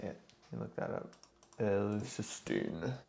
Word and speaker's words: L-cysteine: This is done through an amino acid called L-cysteine. I think that's how you say it. You look that up. L-cysteine.